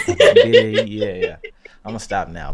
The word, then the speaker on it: birria: I can't pronounce it properly. My R is Barilla. birria.